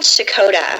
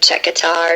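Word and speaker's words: Checotah: of the town um it's called shakota yeah because I can't pronounce it of this morning I was thinking yes um it's okay A lot of people say like Czech guitar or something like that it's all right um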